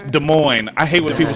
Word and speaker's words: Des Moines: oh Des Moines It's Des Moines I hate when people say it raw It's Des Moines the S is silent oh my God it